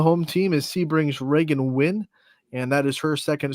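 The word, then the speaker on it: Wynn: also on the home team is sebrings Reagan win and that is her second straight Allstar appearance out of Sebring and if you have a name like win Scotty you better be either a really good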